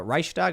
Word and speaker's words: Reichstag: And the funny thing is they're marching next to the Reichstag, is that how you pronounce it?